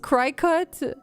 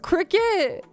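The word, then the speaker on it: Cricut: on pleather fight really I didn't know that it's pronounced cricket oh my God oh my God I had no idea I thought it was cry cut this whole time I've never heard her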